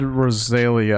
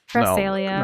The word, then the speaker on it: Cresselia: Oh, and I said Rosalia. I think I mispronounced her name. That's what I'm trying to evolve to. Yeah, I need a shiny not stone. Cresselia.